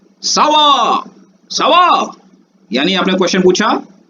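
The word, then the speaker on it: ça va: और सावा short form है कोमा सावा का। ये सी के नीचे सेडिला लगा हुआ है, आपको याद होगा तो क का साउंड स बन जाता है।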